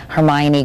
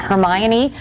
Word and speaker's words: Hermione: 10 when she was cast as the bookish Hermione Granger and now at the rip old age